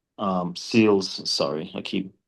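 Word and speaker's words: Seales: Alzari Joseph uh Shamar Joseph and a Jaden Sears um Seals sorry I keep saying pronouncing his name wrong I'll just call him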